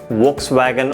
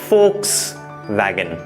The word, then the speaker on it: Volkswagen: it starts with V, we should say it as Volkswagen or Volkswagen, but absolutely wrong. Please understand that in German और German made brands में जहां पर V होता है, we have to pronounce that as F.